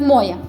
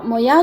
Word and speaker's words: моя: Знаєш, бо у нас кажуть моя, по-нашому, наголос іде на букву О. А моя, то, кажуть, мало там дали, в других областях.